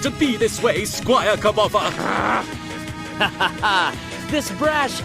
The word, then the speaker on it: Kirbopher: Perhaps things were fated to be this way, Squire Kirbopher.